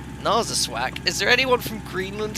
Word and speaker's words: Narsarsuaq: This is apparently how you pronounce our destination. No, what? Narsarsuaq? That's not correct. Narsarsuaq.